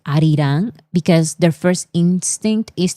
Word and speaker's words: Arirang: Because Korean and Spanish pronounces A the same way. Yes, the ah, the ah sound. Arirang.